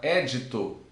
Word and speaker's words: édito: judicial, porque se for edito, vocês viram ali em cima lá, que ó, nós temos o edito, edito que é lei, edito é lei. Agora, édito já é ordem judicial.